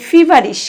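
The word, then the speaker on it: feverish: আমি আইএস এইচ যোগ করব তখন হয়ে যাবে ফিভারিশ কি হয়ে যাবে ফিভারিশ এফটার পরে জোর হবে যখন আমি উচ্চারণ করব তখন এফ এর মাথায় জোর পড়বে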